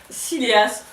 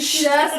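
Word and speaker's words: Sìleas: Siléas. Non, ça se dit Chilas d'ailleurs, c'est écrit. Mais comment ça c'est écrit sur la première page que ça se prononce Chilas.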